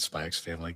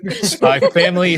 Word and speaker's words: Spy x Family: I just called it Spy X Family. Gross. Spy Family Season 3. Actually, you don't pronounce the X.